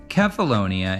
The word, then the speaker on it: Cephalonia: Pronounced Cephalonia in Greek, along with its adjacent island, Ithaca, is the birthplace of Odysseus, whose legendary return home was chronicled by Homer.